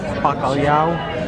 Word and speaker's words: bacalhau: Traditional bacalhau.